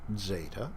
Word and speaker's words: zeta: It's called zeta. Originally, it was probably pronounced zd. Zd.